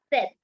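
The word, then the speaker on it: sept: can you repeat it SE yes set we don't have to pronounce the letter P over here last is througha minus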